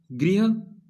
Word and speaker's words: गृह: सो ग्रह प्रवेश नहीं बोलना, तो इसको हम क्या बोलेंगे, इसका उच्चारण क्या करेंगे, गृह प्रवेश।